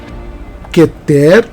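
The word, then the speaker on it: כֶּתֶר: A palavra keter e você fala que ter na verdade nós falamos queter tá bom mas esse aí é um erro pequeno é um erro simples mas é keter e não quer que ter está errado é keter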